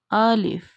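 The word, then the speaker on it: ألف: first letter is alif alif alif alif let me show you origin of alif Al if is read as a MDA and it's pronounced from the empty space of mouth when we need to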